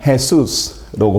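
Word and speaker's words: Jesús: 거고요 영어로는 jass가 되는 거죠 스페인 쪽으로 가면 해수스라고 발음하는 거고요 다 발음이 다르죠이 J 발음이 영어권에서는 우리나라민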